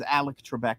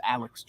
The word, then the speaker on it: Alex Trebek: I always thought it was Alec Trebek, but it's Alex Trebek.